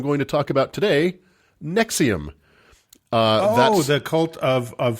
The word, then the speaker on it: NXIVM: to talk about today nexium what was that cult of finding heartburn yes exactly not to be confused with the proton pump inhibitor used to treat heartburn nexium that spelled capital n